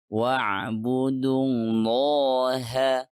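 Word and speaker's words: وَاعْبُدُوا اللَّهَ: Jadi kita membacanya wa'budullaha, bukan wa'budu allaha, karena itu adalah hamzatul wasl.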